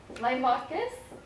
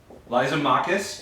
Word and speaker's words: Lysimachus: Limachus. Lysimachus.